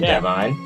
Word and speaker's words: Devon: And we are gonna do a little interview with Devon. And so, Devon. It's pronounced Devon. Is Devon? Okay. Yeah, sorry. Devon. D-E-V-O-N, Devon. It's how you pronounce it.